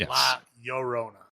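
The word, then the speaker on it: La Llorona: have to roll anything it's yo L is a y so it's La Yona to say it like that um like yo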